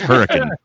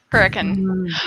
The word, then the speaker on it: Hurricane: what it says on the sign, and you pronounce it Hurricane, we're like, yeah, you're not a local. It's Hurricane. Hurricane.